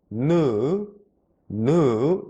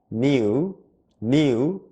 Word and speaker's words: new: 한번 해 볼게요 자 new no no 이렇게 읽어요 한국말로 누인데요 여러분 잘 들어보시면 new new new year 이렇게 누가 아니라 니우 니우 뉴라고 읽는 사람들도 있죠 이게 무슨 차이냐면요 누 느 이것은 미국식 발음이고요 이것은 영국식 발음이에요 그래서 미국식 영어는 new 발음이 no no 한국말 누에 가까운 발음이 나고요 영국식 영어는 한국말로 뉴에 가까운 발음이나요 그러니까 여러분들은요 자